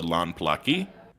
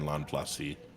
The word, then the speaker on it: Lanplasi: Their subculture is the Lanplaki. The Lanplasi, I'm sorry, we're pronouncing Lanplak and Lanplasi. It's like an S.